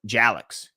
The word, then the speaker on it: Jalix: Pronounce rhymes with Alex. Okay, so Jalix.